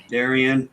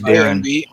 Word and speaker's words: Darren: and be morning kev darian mar my name is darren not darian huh you're adding an extra syllable in my name you're calling me darian